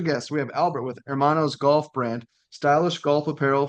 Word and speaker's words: Hermanos: So he goes, Yeah, you're really close, Dom. It's pronounced Hermanos. Hermanos.